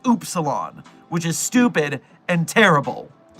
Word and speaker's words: upsilon: I discovered that the word upsilon is actually pronounced oopsilon, which is stupid and terrible.